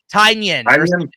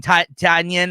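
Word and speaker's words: Tynion: Tanyion. Yeah. Yeah. It's like onion. Tanyion or something like that.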